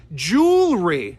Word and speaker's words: jewelry: to push the r we say it as jewelry jewelry that's how you say it not three syllables I would prefer two syllables jewelry it's fun to